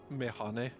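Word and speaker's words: meyhane: It's Mehane. It's Turkish.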